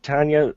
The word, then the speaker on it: Tonjia: projects uh yeah everything's under my name it's Tanya and it's spelled t NJ I a atomic so if